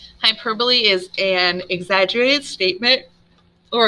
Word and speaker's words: hyperbole: that's not personification they're already people all right hyperbole not pronounced hyperbole hyperbole is an exaggerated statement or a claim that's